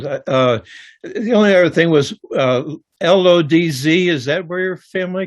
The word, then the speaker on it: Łódź: Yeah, that was the only other thing was LODZ. Is that where your family came from? Lodz, you said it? Yes, and I learned that it's pronounced Lodge. It's Woods, yeah, Woods.